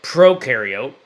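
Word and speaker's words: prokaryote: So, proariote ukareote is how you pronounce those.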